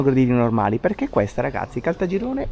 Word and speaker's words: Caltagirone: Allora, Calta Girone, ragazzi, che però detta così, anche quando prima l'ha detto Anghela, stiamo andando a Caltagirone, no, non sta bene, secondo me. Bisogna comunque pronunciarlo bene. Siamo a Caltagirone. Ah, questo mi suona molto meglio.